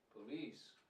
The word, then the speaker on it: police: intonation of this word is the second Sy police and the correct ination of this word is